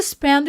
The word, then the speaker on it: spend: Aqui é um dem mudo, a gente marca, mas não explode.